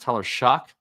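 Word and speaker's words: Tyler Shough: Um apparently Tyler Shug is pronounced Tyler Shock.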